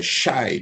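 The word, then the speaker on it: Xi: And there was a direct link with the shy, the same shy people, X-I, that's how it's spelled.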